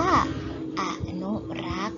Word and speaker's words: อนุรักษ์: และ อนุรักษ์ อ่าน ว่า อนุรักษ์ มี สอ รือ สี เป็น ตัว การันต์ แต่ ไม่ ออก เสียง ก็ เขียน คำ อ่าน